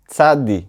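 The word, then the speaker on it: צדי: of the side letter Tsadi צ. Pay attention, tsadi and not tsadik Many get confused and call this letter "tsadik".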